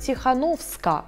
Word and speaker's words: Тихановская: Давайте говорить «Тихановска», а не «Тихановская». На польский манер давайте будем произносить.